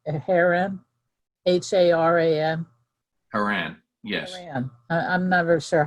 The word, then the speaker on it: Haran: different brother of abraham his father was uh heron heron h-a-r-a-n haran yes i'm never sure how to pronounce the words okay thank you for the